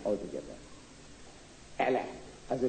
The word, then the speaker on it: Allah: So I said the pronunciation. It's written A-L-A-H by 8 D-D's backed by Reverend Scope. 9 altogether. Allah.